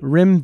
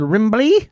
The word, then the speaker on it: Rimby: Not like the way Mark pronounced it 7 or 8 times. Oh, you earlier. Mean during our rehearsal? Yeah. Our rehearsal podcast where I said Rimbly? Over and over.